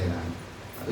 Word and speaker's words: राम: है कृष्णा हरे राम और म में पूरा अ आना चाहिए राम नहीं राम म कट गया राम राम अ हुआ ना पूर्ण है तो आधा म नहीं होता है राम राम भी भाव देखते लेकिन सही उच्चारण तो राम म पूरा होना चाहिए हरे कृष्णा हरे राम